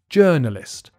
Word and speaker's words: journalist: word as well so the vowels in the first syllable are not written in quite the same way that you pronounce it you just say journalist check out the transcription